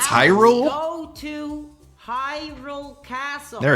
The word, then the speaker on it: Hyrule: This is Hule's final hope. What? You don't know how to pronounce Hyrule?